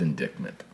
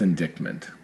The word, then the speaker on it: indictment: talking about the Trump indictment I don't know why it's not pronounced indictment how is CT it well no it's indictment but um through pronunciation you often lose those consonant clusters really yes I didn't